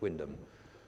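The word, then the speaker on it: Wymondham: Y monde ham but that's how things go in Norfolk it's pronounced Windham and and somebody wanted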